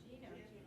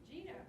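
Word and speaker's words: Jena: Yeah, well, that's what I don't think it matters how you pronounce it. Some people from Louisiana say Jenna, so I guess it really just depends on your accent.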